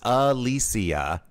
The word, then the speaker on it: Alicia: The Babysitter's Club star used the video sharing social media app to share the proper pronunciation of her name. She says it's Alicia in the short clip, typing it Alicia in the caption, as if things weren't confusing enough.